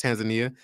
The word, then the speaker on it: Tanzania: had clients in tanzan Tanzania um or Tanzania I was told how to say it the right way it's Tanzania uh we've had clients